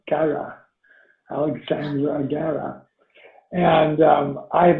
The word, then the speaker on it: Guerra: And your last name, is it pronounced Guerra or is it Guerra? I sometimes it could be either way. Yeah, no, it's the latter. So Guerra is war in Guerra, Spanish. Guerra. All right, Guerra, Alexsandra Guerra.